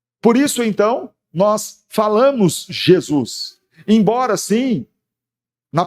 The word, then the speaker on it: Jesus: no aramaico, mas na língua grega, onde se pronuncia Jesus.